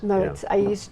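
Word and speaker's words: Moët: Somebody told me it's like what you do with the lawnmower to the lawn. Moet. Moet.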